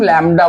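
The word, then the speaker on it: lambda: है बेटा इसको हम लडा बोलते हैं अगर प्रोनंसिएशन की बात करो तो एल एम बीडी B silent रहता है तो हम बोलते क्या लडा क्लियर है क्र समझ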